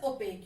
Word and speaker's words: opaque: transparent translucent and opaque this is pronounced as opaque you must have learned